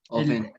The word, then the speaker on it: often: Often. Often. Exactamente. Esta palabra no se pronuncia la T habitualmente, se dice normalmente algo así como they often.